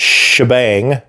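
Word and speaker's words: T'Jbang: The commercial for Ninja Force pronounces it shebang.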